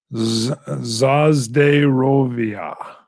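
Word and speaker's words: За здоровье: In Russian, it's a, oh boy, pronounced, oh boy, Zazderovia.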